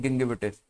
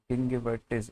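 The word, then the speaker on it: gingivitis: उसे हम कहते हैं गिंगिविटिस। गिंगिवाइटिस, वाइटिस भी बोलते हैं इसे, गिंगिवाइटिस भी इसका प्रोनाउंसिएशन है, ध्यान रखना भाई।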